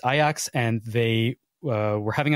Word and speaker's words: Ajax: makab Tel Aviv and aox it's spelled Ajax as in Ajax Ontario but or the cleanser but it is aox and they uh were